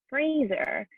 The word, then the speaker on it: Fraser: pronounces his name and it's actually fraser kind of like razor but i still